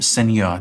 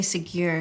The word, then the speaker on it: Ségur: validate the story, and that is to Monsignor Seigneur. Did I pronounce that right? I say Ségur.